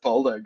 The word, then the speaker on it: Boldo: a little bit later, I'm pretty sure he likes it to be pronounced Boldo, guys.